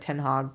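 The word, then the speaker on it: ten Hag: for you I know his name is pronounced like ten hog but ten hog the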